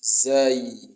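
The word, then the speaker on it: زاي: And now let's move to the next letter, which is Zai, Zai, Zai, Zai. It is pronounced between two incisors, your two incisors, Zai, Zai, the two incisors.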